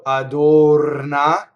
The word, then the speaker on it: adorna: touches nothing it rolls so this R touches a consonant so it rolls if in ours surrounded